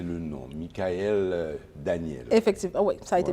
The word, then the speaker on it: Michaëlle Daniel: Est-ce que j'ai bien prononcé le nom, Michael Daniel?